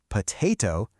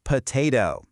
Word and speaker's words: potato: Over in the UK, it's more like potato, but in the US, it's potato. It's basically the same thing, just a slightly different flavor of speech.